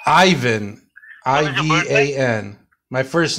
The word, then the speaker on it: Ivan: So what is your You left out the middle syllable. Ivan.